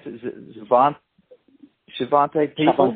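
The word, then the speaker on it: Xavante: How do you pronounce it? Is it Shavante people? Shavantes, yeah.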